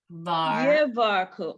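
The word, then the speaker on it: יברכוך: So you have to pronounce the yud at the beginning. So Yivar. Yevarku.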